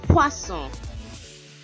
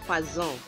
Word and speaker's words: poisson: You pronounce S is S. Be careful not to pronounce it Z, because poison is a totally different kettle of fish. Okay, that's poison is poison. So be careful with the pronunciation poisson and not poison.